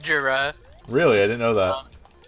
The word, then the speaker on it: Gira: Well, you have that Even their new picture with album- Michael Gira though. Jura. You know it's pronounced Jura.